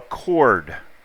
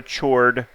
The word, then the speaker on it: chord: hopefully hopefully hopefully alright a chord not a chore a chord kind of pronounced as Co Rd alright so a chord